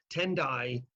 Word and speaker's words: Tendai: the form of Buddhism tendai is the same character as tiai is just pronounced a Japanese way instead of a Chinese way and so what effectively